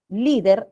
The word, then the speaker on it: líder: jóvenes A qué líder líder es grave no que termina en r esta palabra es un